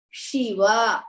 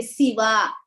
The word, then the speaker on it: Shiva: is sure not sir it should be Shiva like that you should not say Siva Shiva is wrong then the next one